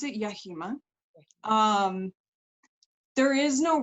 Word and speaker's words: Yahima: or am I pronouncing it completely wrong I pronounce it yahima um there is no right and wrong as